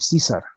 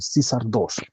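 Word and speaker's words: CAESAR II: Entonces hay toda una especialidad y un programa bastante interesante para poder aliviar estas tensiones es el CISAR, ¿no? Se escribe CAESAR 2, el CISAR 2, que es un programa muy interesante y es ya toda una especialidad dominar este programa.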